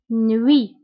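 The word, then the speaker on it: nuit: نوي، فسابقا قلت أن او اي كتقرا وي وي، نوي نوي. هنا تي في آخر الكلمة لا ننطقها، نوي.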